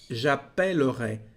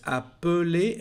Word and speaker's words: j'appellerai: Ha visto que la primera E cambia de sonido, no es appeler, es appellerai. ¿De dónde viene este cambio? De las dos L's. Ahora son dos L's y eso cambia la pronunciación.